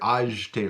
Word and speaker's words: acheter: you might hear it acheter, like an je sound rather than a sh.